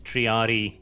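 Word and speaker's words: triarii: language i am correct it's triadi e you do pronounce both eyes so do it charity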